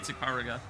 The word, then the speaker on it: Ikaruga: I learned I was pronouncing it wrong, by the way. It's Ikaruga.